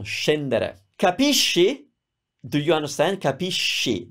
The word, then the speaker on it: capisci: Capisci. That's sh because it's spelled that way.